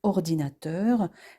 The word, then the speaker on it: ordinateur: Par exemple, dans le mot ordinateur, l'accent tonique est sur la syllabe teur.